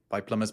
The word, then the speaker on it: plumber: Plumber is one of those words that had a silent letter inserted into it retroactively.